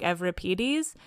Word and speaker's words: Euripides: fuck, that's Euripides and that was another example of the funny pronunciation and I think again that's the modern Greek coming out because they call them like Euripides and again, but I m saying it in a very like Canadian English way of Euripides so such is life,